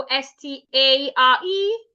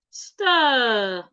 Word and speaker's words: stare: So s t a r e is rightly pronounced stare. Stir. Stare.